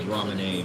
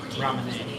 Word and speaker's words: Ramune: Or I think it's pronounced as Ramune, but Ramune. I say Ramoon. I've said it for too long. I can't go back now.